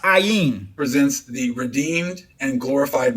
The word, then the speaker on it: Ain: dwell in this myth john and eon and ein three forms of the word and all pronounced three forms of the words the and all pronounced ayin presents the redeemed and